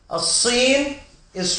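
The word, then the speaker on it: الصين: As-Sin is China. Huwa min as-Sini, and we already mentioned that Sad, the lam is not pronounced because it's Sad is a sun letter.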